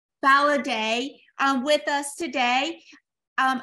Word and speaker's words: Faladé: you pronounce that before it's like holiday with an F validate um with us today